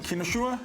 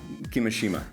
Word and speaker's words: Kimishima: Kimishima? Yeah, Kimishima.